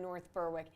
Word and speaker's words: North Berwick: All right, the Genesis Scottish Open beginning on Thursday at the Renaissance Club in North Berwick. Yes, Emerson, that's how you pronounce it.